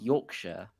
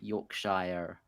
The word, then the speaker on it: Yorkshire: Also, Aaron, it's Yorkshire, not Yorkshire. In fairness, I mean, my sister lives in the north. You don't around pronounce Yorkshire. the Shire. Yeah. It's Yorkshire, Shropshire, Cheshire, Berkshire.